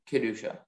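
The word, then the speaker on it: Kedushah: there any alternate pronunciations there's just the one kedusha k-e-d-u-s-h-a-h kadesha that is correct thank you our next speller is speller 116.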